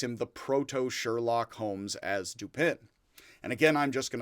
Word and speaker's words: Dupin: The name Dupin, which sounds like duping or Dupin when mispronounced by Americans, and Dupin's full name, C.